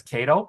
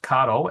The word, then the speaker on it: Kato: always pronounce it as KO because you know being in the US but it's pronounced kado as experienced by the Japanese when I was there